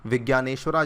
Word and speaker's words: विज्ञानेश्वर: जे को यहाँ पे आप जी की तरह प्रोनाउंस करते हैं, विज्ञानेश्वरा जी ने इसको यहाँ पे लिखा था मिताक्षरा को, ठीक है।